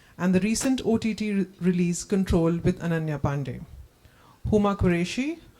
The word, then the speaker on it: CTRL: So before, I mean, okay, so let's call it CTRL since that makes Mayank happier. Pronounce it Control.